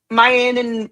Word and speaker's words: Mayan: Mayan rhymes with lion.